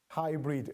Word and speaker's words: Haibrid: Yes, and I see that you spelled it in an interesting way. Hybrid, as in how we Yes. pronounce it.